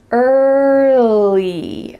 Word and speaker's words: early: Let's break it into 2 sections. And then lee, early. Make sure that when you say the L, your tongue is touching the back of your teeth. Lee, early, early. Don't add another sound in there. I often hear English learners say early, early, but that in the middle isn't natural. So let's make sure you